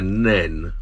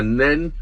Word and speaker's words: Nene: be called the river nene yes the river changes its name although it's spelt the same as you go downstream well anyway that's the